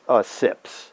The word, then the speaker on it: Zipz: one or tasted one these are sips but they spell it z i p z and the object